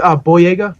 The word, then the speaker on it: Boyega: But, and it sucks because John, was it Boyega? That's how you pronounce his last name?